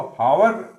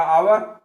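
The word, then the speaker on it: hour: उपयोग होगा जिसका पूजा इसको पावर इसको यह वड़ा नहीं जाएगा इसको पढ़ा जाएगा आवर व्यक्ति को युवा त्यौंथर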